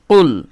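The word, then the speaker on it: قُلْ: দেখুন কফ লাম পেশ কুল হ্যাঁ এই কফটা জিহব্বার গোড়া উপরের তালু বরাবর লাগিয়ে উচ্চারণ করতে হয় কুল ঠিক আছে কফ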